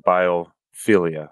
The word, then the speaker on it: biophilia: you talked about the concept of Biophilia is that how you say it yes I mean yeah that's really trying